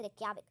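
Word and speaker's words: Reykjavík: तो रैक वेग से रेक्यावेग। देखिए दोबारा से जे आ गया, पर इसे हम वाई प्रोनाउंस करेंगे, कभी भी इस बात में गलती आपने नहीं करनी।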